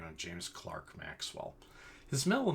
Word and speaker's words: Maxwell: Scottish physicist by the name of James Clerk Maxwell. His middle name is spelled as if it were Clerk, but it's pronounced Clark.